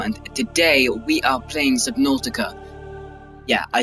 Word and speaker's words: Subnautica: Welcome back to another video on the channel, and today we are playing Subnautica. Yeah, I said it, Subnautica, not Subnautica, because it's not spelled like that or pronounced like that.